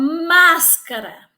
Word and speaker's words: máscara: e oxítona Vejam Só a palavra máscara Qual é a palavra que você pronuncia com mais densidade a sílaba tônica é mas máscara Eu gosto de brincar